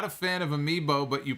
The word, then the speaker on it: amiibo: pop culture references you're not a fan of amiibo but you pronounce it correctly well that's good it's good